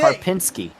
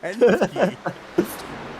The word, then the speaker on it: Karpinski: There's no E, it's an I. Pin, not pen. That I didn't say pen. You say Karpinski. You're putting the emphasis on the wrong syllable. You're saying Penske.